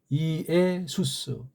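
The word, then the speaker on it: Ἰησοῦς: 빨랑 해주면 돼 너무 그렇게 그냥 간섭을 같이 발음하지 마세요 이에수스 시간이 걸려서 그래요 누구시는데 예수에서 합니까 이걸 다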